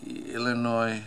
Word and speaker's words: Illinois: let me see Illinois the state of Illinois it's a French with a silent s all right the French